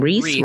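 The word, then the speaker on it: Rhys: And like you said, the disguises of Kerry Russell and Matthew, how do you pronounce his name? Reese, right?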